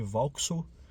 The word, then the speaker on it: Vauxhall: Além disso, quero dar agradecimentos também ao Gustavo Dias, aí do Corsa CBR Garagem, o Corsa C Vauxhall, né? A pronúncia é essa, agora aprendi.